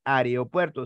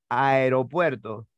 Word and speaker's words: aeropuerto: básicamente es esta palabra no es areopuerto sino es Aeropuerto no familia asociada a